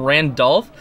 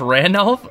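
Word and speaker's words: Ranulf: got some names wrong i kept calling him randolph and i just realized there's no d um it's literally just randolph and um apparently i was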